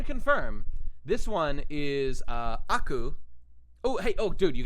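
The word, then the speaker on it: 悪: his name is Aku this kanji Japanese kanji for evil or bad means or is pronounced Aku right I was actually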